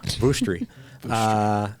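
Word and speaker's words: Vushtrri: It's in the I was going to ask you to pronounce that. Thank you. Yeah, Vuštri.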